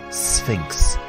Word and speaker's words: Sphinx: word and Monument the Sphinx this word can be tricky to pronounce you have an S sound than an F sound Sphinx the Sphinx is a